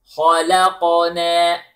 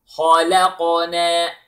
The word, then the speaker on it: خَلَقْنَا: Notice, the ha is heavy, the lam is light, the qaf is heavy with qalqala, and na, light. So, We pronounce it like this. خَلَقَنَا Repeat please after me. خَلَقَنَا Okay, then.